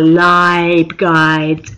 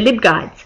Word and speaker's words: LibGuides: little subject portals you can make online are live guides or lib guides I think they're lib guides uh it made me think of what other